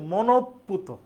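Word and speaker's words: মনঃপূত: বিসর্গ পুত এ শব্দটার উচ্চারণ আমরা লেখি এটা উচ্চারণ হবে মনপুত মনপুত শব্দটা হইতেছে উচ্চারণ হবে মনপুত মনওকার তহসন্ত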